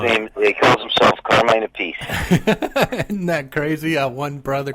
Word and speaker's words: Appice: He calls himself Carmine Appice. Isn't that crazy? One brother calls it one thing, and one brother pronounces it another.